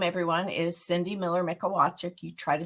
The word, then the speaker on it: Mikolajczyk: Um so, my name, everyone, is Cindy Miller Mikolajczyk. You try to spell that last name.